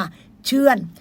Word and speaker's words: เชื่อน: ค่ะ พี่ น้อง ค่ะ เชื่อน สระ เอ ช่อ ช่าง สระ อือ อ้อ อ่าง แล้ว ก็ น หนู ค่ะ อ่าน ว่า เชื่อน พี่ น้อง ค่ะ เห็น